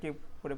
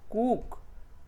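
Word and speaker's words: cook: তাই যারা নন native English speaker থাকেন তারা কিন্তু এটা কি করে পড়বেন, কুক, পুল, ফুট, রুট। আসলে এটা ভুল প্রোনাউন্সিয়েশন, আমরা কুইক উ সাউন্ডটা প্রডিউস করতে হবে এখানে।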